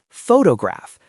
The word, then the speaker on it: photograph: First, the noun photograph. The stress is on the first syllable. So, the O is clear. The second O becomes awah. Photograph.